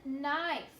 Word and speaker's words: knife: And knife, okay? All of these words start with the N sound, but it's spelled with a K-N, okay?